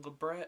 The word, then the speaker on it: labret: my lip piercing now different people pronounce the piercing differently I some people pronounce them labret other people pronounce on the beret I pronounced labret just simply because that was the first term that hurted by several years ago so and I've been saying labret for years so I'm going